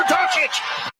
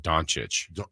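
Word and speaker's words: Dončić: I mean, like Doncic. Yeah. Or like Doc. It almost sounds like it rhymes with Jockitch.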